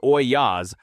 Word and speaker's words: ollas: Ollas, spelled O-L-L-A-S, pronounced Oyas, are unglazed clay pots that you bury in the garden up to the neck and fill with water.